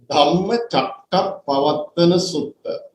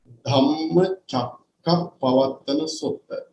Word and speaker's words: Dhammacakkappavattana Sutta: Dhammacakkappavattana Sutta. Actually, this is the original Pali name of the sutta or the title of the sutta in Pali. Dhammacakkappavattana Sutta.